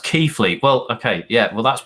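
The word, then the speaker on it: Keighley: how long have you lived up north it's pronounced keithley well okay yeah well that's why the south is better so you couldn't even pronounce it bruv even i knew it was pronounced keithley but i didn't want to say anything i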